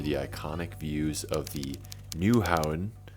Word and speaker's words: Nyhavn: iconic views of the Nyhavn, which is how it's pronounced in Danish apparently, waterfront district.